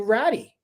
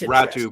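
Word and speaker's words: Räty: you hear that they they used the the name ratty uh and I thought well that's ratu by the way oh is it r a t y how do you pronounce that yeah is ratu oh that's isn't that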